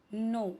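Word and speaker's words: know: नो यहां पे के साइलेंट है।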